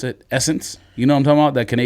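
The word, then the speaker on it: SSENSE: how you pronounce it, Essence. You know what I'm talking about? That Canadian store that's S-Sense. I thought it was like Sensei. I had no idea it was Essence.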